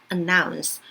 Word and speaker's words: announce: announce 이것도 마찬가지 어나 하지 말고 anna 이렇게 들어갑니다. 그래서 announce 그리고 salesperson 이렇게 되고요.